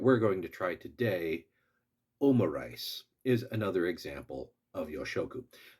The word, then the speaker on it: Omurice: known as wasaigo omo omo is the short form for omelette and risu for rice. So omo rice it is simply an